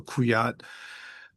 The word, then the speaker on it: Kujat: Um in their discussion, they talked about talked about General Harald Kujat, spelled with a J. In In German, J is a Y sound, so Kujat uh k u j a t.